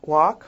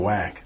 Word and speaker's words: Wack: thinking that named Bill wack well as for correcting me the last name is spelled up f-ck but it's a German pronunciation apparently so it's bishop bill